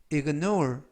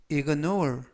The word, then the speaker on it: ignore: 결혼식은 9시에 있을 예정이라는 뜻이 되겠습니다 2번 표현은 ignore ignore ign이라고 발음하시면 되겠고요 이때 강세는 뒷부분에 있는 알파벳의 강가